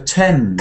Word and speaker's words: Thames: Thames River. The Thames River. This is interesting because, Thames like River. Thomas, the tank engine, the TH is now T. There are some words where TH is pronounced T.